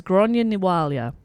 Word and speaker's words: Gráinne Ní Mháille: an imprint on irish folklore and legend as gronia niwalia anglicized as grace o'malley luckily outside of the